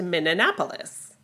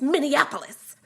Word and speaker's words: Minneapolis: And Michael Jackson said, "I never been to Minapolis." And Prince hissed, "It's Minneapolis."